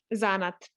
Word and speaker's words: zanat: you say suzanna or zanat zanet for us zanat said the second part is lovely most of our stress is on the first syllable um yeah i mean